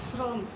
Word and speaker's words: শ্রম: সব সময় লক্ষ্য করবে যে তালব্য স্বয়ের মধ্যে যখন রফলা যুক্ত থাকে, তখন সেই তালব্য স্বটাকে স্বয়ের মতো উচ্চারণ করা যায় না, সেই স্বটাকে স উচ্চারণ করতে হয়, শ্রম।